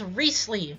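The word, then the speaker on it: Wriothesley: characters right here so here is reesley yes this is how you actually pronounce his name um also a little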